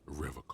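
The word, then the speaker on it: Revachol: He pronounces Revacol It's a hard with K. a hard K.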